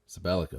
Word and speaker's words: Sabellico: Sabellico, is that right? Yes, you nailed it. Sabellico. Well done. Perfect enunciation. I'm not sure what the proper way to pronounce or enounce.